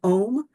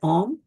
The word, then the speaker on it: Om: So the first one is the universal seed sound Om, which is to be pronounced as A-U-M or A-U-M. Om.